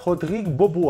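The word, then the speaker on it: Rodrigue Beaubois: tempo ninguém mas que deixou a sua marca rodrigo bobô a essa é a pronúncia chegou apenas quatro temporadas na nba e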